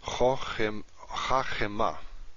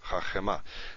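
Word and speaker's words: חכמה: So, if with the metheg here, we're going to pronounce this. We're going to have a new syllable here. Right? Pause means a new syllable, basically. Chachema. Chachema.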